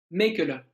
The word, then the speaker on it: Mechele: Je pense à, on dit Mechele ou Mekele? Mekele, Brandon Mekele.